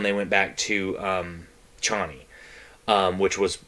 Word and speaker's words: Chani: in this one they went back to um chani um which was how they pronounced it in this movie um they went